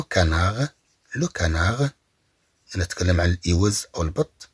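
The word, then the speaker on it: canard: اي enfin on a des mots qui s'écrivent avec d à la fin mais sont prononcés ce d. اذا طبعا بدون ان ننطق هاد لو غونار لنقول لو غونارد لو غونار لو غونار يعني الثعلب لو كانار لو كانار نتكلم عن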